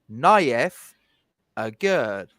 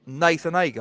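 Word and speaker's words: Nayef Aguerd: That's how you pronounce his name, Naif Agurd. There you go. Not Nathan Agar.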